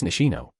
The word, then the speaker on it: Nishino: Anyways, sorry for getting your name wrong, Nishitan San Minoru said once again in a monotone voice. It's Nishino, she expressed irritated.